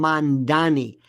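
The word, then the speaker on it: Mamdani: the way nobody pronounces they call him Mandani. It's mom like mom and dad or ma'am. Donnie Donnie Osman Donnie Hathaway Donnie and Marie you got it. It's simple. They can't say it. Mandani.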